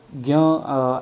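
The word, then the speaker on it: జ్ఞ: This Telugu character pronounced as gya, as in when in Hindi we speak about gyani or gyan.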